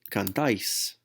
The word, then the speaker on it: cantáis: vosotros ending here is A with an accent, IS, pronounced as ice. So I need to go on and throw my ending here on the end, and I get cantáis, cantáis, you all sing.